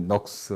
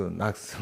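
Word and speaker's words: Knox: 오늘은 존 녹스, 뭐 영어 발음이 녹스, 낙스 막 이러는데 이제 영국에서 녹스라고 하고요. 거의 오자 발음을 해서 이제 미국식은 낙스, 존 낙스 같은 사람입니다.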